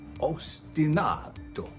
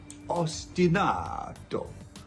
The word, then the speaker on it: ostinato: Ostinato. Ostinato. Ostinato. You put the emphasis on the third syllable.